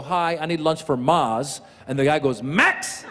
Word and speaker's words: Maz: in the world cuz my name is Maz like the word mas which means more in Spanish for some reason Mexicans